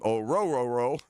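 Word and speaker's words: Orhorhoro: Orororo, that's how you say his name. Oruro.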